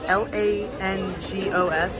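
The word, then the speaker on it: lángos: how to pronounce it it's pronounced like l-a-n-g-o-s langos but it's some sort of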